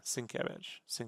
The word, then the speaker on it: Sienkiewicz: yeah, Sienkiewicz.